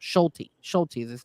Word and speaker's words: Schulte: So they got rid of him and they put I'm sorry, not Scully. His name is pronounced Schulte.